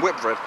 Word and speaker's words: Whitbread: It's actually pronounced Whitbread, and the performance was relatively decent.